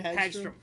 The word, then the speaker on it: Hagstrom: Hagstrom.